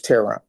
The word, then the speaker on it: Teron: It's Tehran. Tehran.